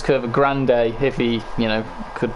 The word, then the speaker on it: Curva Grande: It's not Curva Grunt, it's Curva Grande.